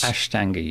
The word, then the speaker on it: Ashtanga: Did I pronounce that correctly there? Ashtanga yoga classes? Ashtanga yoga, yeah.